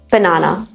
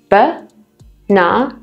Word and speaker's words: banana: Banana, banana. So this has two. B-na-na.